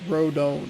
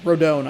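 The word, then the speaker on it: Rodón: through Carlos rodon rhen I forget how they say it it's rodone rodone I believe four Innings pitched to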